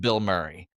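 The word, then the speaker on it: Bilmuri: There is a band called Bill Murray. I'll look into that. Oh my god. Okay. Funny. is a band. So, they they spell it differently. It's B I L M U R I, I think.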